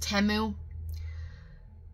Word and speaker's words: Temu: we did some temu hauls now listen it's pronounced temu originally I hate that name I know if it was timu it would have a name in it but I cannot keep saying temu I want to say teu so bad it